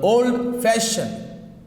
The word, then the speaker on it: old fashioned: Okay, the stress is on, for compound adjectives, the stress is on second part.